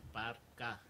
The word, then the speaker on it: Parca: the K, it's Ka, right? It's pronounced Ka, so it's La Auténtica Parca.